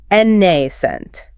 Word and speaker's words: nascent: Nascent. Stress on the first syllable, long A sound. Second syllable is a schwa.